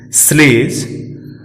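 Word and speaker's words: sledge: अब हम बात डी की करें तो डी के बाद जी लगा हो तो डी साइलेंट रहता है। हम निम्न शब्दों में देख सकते हैं प्लेज, स्लेज, ब्रिज। इन सभी शब्दों में डी साइलेंट है क्योंकि डी के ठीक बाद जी आया है।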